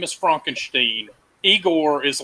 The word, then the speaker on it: Igor: his name is Frankenstein eigor is like you're having me on and it's only after that that he asked him what his name is and he says aore to correct his pronunciation the question is is